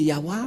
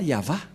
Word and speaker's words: Yahvah: prendre en photo car certains aussi disent que que c'est yawa mais pas yava et c'est encore une une fausse un faux schéma car la prononciation de